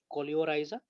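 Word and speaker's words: coleorhiza: नीचे भी एक प्रोटेक्टिव लेयर प्रेजेंट रहता है जिसको हम लोग प्रोनाउंस करेंगे कोलियोराइजा, COLEO स्पेलिंग वेरी करता है, COLEORHHIZ कहीं पे लिखा हुआ है।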